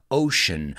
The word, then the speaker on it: ocean: and the united states ocean let's pronounce that word together ocean because that sea sounds like an sh the atlantic and the